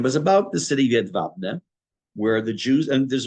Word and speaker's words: Jedwabne: It's spelled Jedwabne, but it's pronounced Jedwabne.